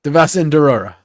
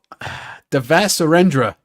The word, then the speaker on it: Devasurendra: Say my name. Devasendorora. No, Devas. You went off the rails there, bro. It's, Devasurendra.